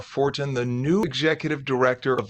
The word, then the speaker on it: Fortin: Fortin, the new, is it Fortin or Fort? How do you properly pronounce it?